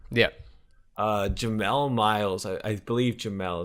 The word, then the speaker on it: Jamel: jemelle miles I believe Jamel as I pronounced it it looks like Jamal but it's an e-mail Myles that's where I